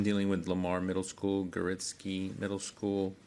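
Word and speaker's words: Gorzycki: I'm dealing with Lamar Middle School, Garitsky Middle School. Did I say that right? Go risky. Go Risky. It's Summit Elementary. Not the way it's spelled.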